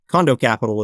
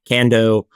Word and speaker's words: Condo Capital: So, Condo Capital is how it's pronounced, but I get it condo, can do, kando, any variation of it, it doesn't matter to me.